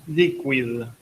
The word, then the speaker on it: Likwid: Si no está Liquid, que se escribe Likwid, o sea, en vez de líquido con Q es con KW.